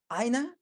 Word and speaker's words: Aina: Aina, am I pronouncing the name correctly? That's correct, yes.